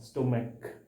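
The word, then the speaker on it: stomach: देखो, ये दोनों नाउन जिसका last to letter C एच है, सी एच है, जबकि इसका इसका जो प्रोनाउंसिएशन है, इसका जो उच्चारण है वो क हो रहा है, स्टोमैक, मोनार्क।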